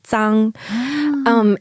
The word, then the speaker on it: Zhang: In Shanghai, there's no difference between Z and ZH because of the dialect. The Shanghai dialect, they pronounce it the same. So they say zang.